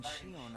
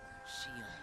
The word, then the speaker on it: Xion: I started inviting Xion up here while you were gone.